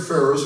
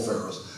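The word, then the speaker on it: Faris: all answered to Paul Ferris. And by the way, even though their names are pronounced the same, completely different spelling, no relation whatsoever. Which was kind of weird. Paul Ferris, Greg Ferris.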